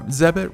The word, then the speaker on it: Zebit: talking to Zevon and ZEB it rhymes with debit Zeb IT we'll be